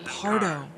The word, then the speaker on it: Pardo: gets what he's after I've been saying his name wrong oh you guys are gonna freaking Hound me in the comments it's Pardo not Prado Mia I like your